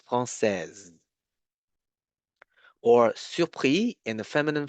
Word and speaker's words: française: You actually need to pronounce the S like a Z sound, française.